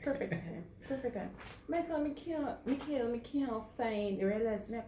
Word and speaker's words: Micheal: I had to learn that the E come before the A, and it did very serious about it.